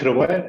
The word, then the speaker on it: Hrvoje: And Hrvoje will Hi, represent. Maria. Am I pronounced correctly? Yes, you do. Yeah. The stage is yours. Okay, let me just. Okay, so my name is Hrvoje, and I'm from Croatia, and we develop system